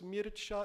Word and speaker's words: Mircea: étaient roumains d'origine or en roman son nom et prénom se prononcent mircha héliades et ceux qui cassent